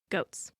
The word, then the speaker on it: Goths: Touchstone tells Audrey that he is here with her and her goats just as the lascivious poet Ovid was among the Goths, pronounced goats.